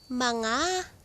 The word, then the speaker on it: mga: Mga (pronounced ma-nga) mangga This ----- It's already ripe.